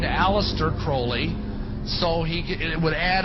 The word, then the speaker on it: Crowley: about with Alistair Crawley he likes to have his name pronounced Crowley to rhyme with holy and and uh the